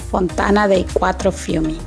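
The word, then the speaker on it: Fontana dei Quattro Fiumi: de los cuatro ríos o pronunciado en italiano Fontana de cuatro fumi esta se encuentra ubicada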